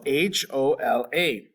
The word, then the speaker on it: hola: for the word hola it is spelled h-o-l-a in spanish we do not make the h sound so it's hola ah hola our next